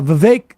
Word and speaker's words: Vivek: here is um uh Vivek still rhymes with cake making his uh claim